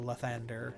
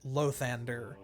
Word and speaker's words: Lathander: For some reason, more than once in the game, they pronounce it Lathander. And it is not Lathander, it is Lathander.